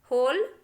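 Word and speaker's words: whole: और है देखिए जिसमें डब्ल्यू जो है साइलेंट है, हु, हुज, होल, हुम, हुज, हुएवर, आंसर, टू। इन शब्दों में भी आप देख सकते हैं बच्चों कि डब्ल्यू जो है बिल्कुल साइलेंट है, उसको हमने कहीं भी नहीं पढ़ा है।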